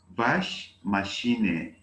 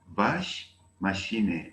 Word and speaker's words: Waschmaschine: Waschmaschine. Waschmaschine. I spell it buchstabiere.